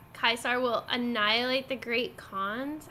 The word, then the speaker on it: Caesar: personal guess is that they never told the V how to pronounce oh oh kaisar Caesar and only those with some knowledge about Latin actually pronounce it correctly and the rest just use the pronunciation that's fine to be